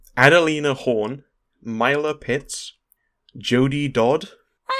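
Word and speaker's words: Doddd: of the start as well no it's still pronounced dodd but it's spelt o triple d we've got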